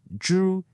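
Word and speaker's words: 株: The next one is zhu, and this one's pretty straightforward.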